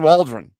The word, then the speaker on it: Waldron: His name rhymes with cauldron. Yeah. Yeah. Shane Shane Waldron. Yeah. The Cauldron Waldron.